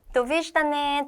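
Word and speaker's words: Довиждане: 발음입니다. 해서 한국어로 보면은 도v다네가 됩니다. 도비다네.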